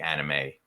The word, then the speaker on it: anime: Well, anime is a foreign loan word, obviously, for animation, of course. So they call it anime. Anime. That's how it's pronounced.